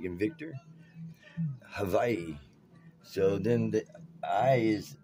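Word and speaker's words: Hawaiʻi: it's ha Y and actually the W is a v sound a v like inv Victor Havi so then the I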